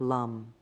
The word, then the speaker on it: lam: the root chakra the sound is lamb pronounced like Lum as you're doing your